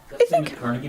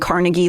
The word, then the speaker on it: Carnegie: Carnegie Melon. Uh Carnegie Melon is two different dynasty families. So Cargi uh which is pronounced Carnegi in Pittsburgh and Carnegie literally everywhere else.